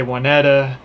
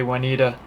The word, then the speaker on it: Waneta: we need a lake some people say juanetta but all the locals say juanita so here it is